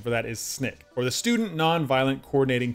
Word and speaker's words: SNCC: And it's pronounced SNCC. It looks somewhat like SNCC, but the widely accepted pronunciation for that is SNCC, or the Student Nonviolent Coordinating Committee.